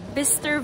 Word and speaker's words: Bicester: Okay, Bicster Village. That's how you say it.